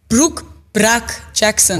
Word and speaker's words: Brooke Bruk-Jackson: they pronounce it wrong. Brooke Bruk-Jackson.